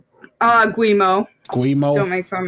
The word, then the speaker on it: Guillemot: It says Ubisoft reportedly working on buyout plans, currently looking for a deal that would allow, how do you pronounce that guy's last name? Guillemot.